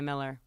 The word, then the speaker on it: Mueller: So it is officially Miller. Okay. It is Miller. But if you ever ask me to spell it and or I have to go somewhere where I have to spell it, I will say Mueller.